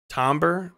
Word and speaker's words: timbre: It's pronounced somewhat like tambourine, timbre. Timbre?